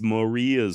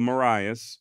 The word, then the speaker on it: Marias: actuality if you want to be correct it's Moria River not the Marias River however it does appear the Montana locals do call it the Marias so I also chose to go with that pronunciation and shout out to